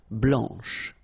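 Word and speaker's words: blanche: and then blanch okay remember when you combine this C you get the sound sh blanch okay so BL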